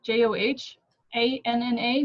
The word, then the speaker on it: Johanna: spelled with an H, Johanna, that's the correct way to spell it. And then since I'm Hispanic, you don't pronounce the H, so it's just Oh, Johanna and then